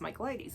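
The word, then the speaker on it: Michaelides: the silent patient and i had no idea how to say the last time and it's michael ladies so alex micheladies um i enjoyed this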